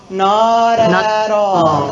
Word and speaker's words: not at all: Not Okay, be careful with that T. Remember, we talked about unreleased T or flap T. So in American English, it would be pronounced not at all.